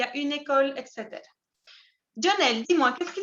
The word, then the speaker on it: école: Dans mon cas, il y a un parc, une école, École. Recuerda, no se pronuncia la E final. École.